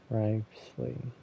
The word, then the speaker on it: Wriothesley: So the O is silent. Wriothesley.